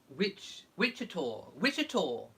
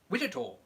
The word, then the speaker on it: Wichita: Laurie Clark says, it's pronounced Wichita. No, I got to do it with the American voice. Wichita.